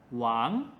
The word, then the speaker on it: 王: "wang2" Our 7th character is: "zhu4".